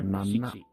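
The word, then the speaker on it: しち: Seven is either nana or shichi.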